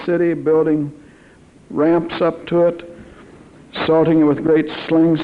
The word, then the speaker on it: Ai: habit of AI of I city of I AI is pronounced I and bethl now because